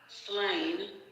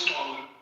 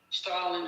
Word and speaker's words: Stalin: And Joseph Slain, who has served as Linen's general secretary, eventually takes over official role of the Soviet Union until his death in 1953 from Stalin. It's pronounced Stalin. Stalin.